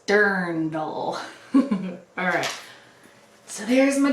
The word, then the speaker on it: dirndl: actual vintage dirndl and yes that's how it's pronounced if you've ever wondered now you know it's dirndl alright so here's my dirndl this I think was this I didn't really